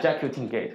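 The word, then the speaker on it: Jacutingaite: I googled this name for pronunciation, and Google don't know. So I'm going to pronounce it now by myself. So I call it Jacutin gate, okay.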